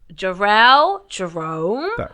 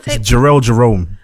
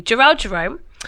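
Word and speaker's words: Jharrel Jerome: like to give a round of applause to jerel Jerome why is that difficult to pronounce cuz I was Gerald Jerome I don't know why I come with energy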